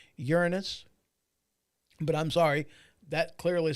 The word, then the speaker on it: Uranus: Pulling it out of Uranus, because we all know what they're talking about. Although I did pronounce that wrong. I believe the actual planet is pronounced Uranus.